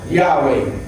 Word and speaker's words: Yahweh: So many Greek transcriptions will indicate YHWH, which should be pronounced Yahweh.